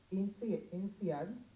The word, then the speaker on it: INSEAD: Business Administration from the prestigious Business School of INSEAD.